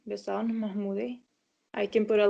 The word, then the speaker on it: Bezan: So it's pronounced Bezan, Yeah, because the way it's written on the bracket is I would read Bezjan or something like this.